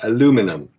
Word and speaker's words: aluminum: EVA handles was 2024-TT3510 aluminium, or aluminum, as Americans pronounce it, whose melting point is 1,180 degrees Fahrenheit.